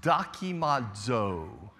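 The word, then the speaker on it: δοκίμιον: also examined it is the word in Greek pronounced daki Maude's Oh document that's what it means document sort of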